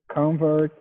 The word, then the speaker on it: convert: this oh okay um say it faster and don't don't say like a oh con say more like a u like like gun g-u-n uh gone con convert second part slower convert